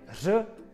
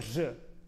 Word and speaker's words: ř: Nahrávejte se, poslouchejte a porovnávejte svoje ř s dalším ve stejném slově odrodilého mluvčího.